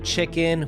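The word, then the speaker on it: Chickyn: just with a y c h i c k y n which would just be pronounced chicken as well well it may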